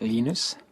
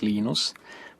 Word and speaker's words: Linus: Linus or Linus? What's your preferred pronunciation? When I speak Swedish, it's Linus. When I speak Finnish, it's Linus.